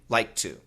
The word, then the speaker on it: liked to: The simple answer, just make one T sound. So liked to, when we speak normally, we say like to.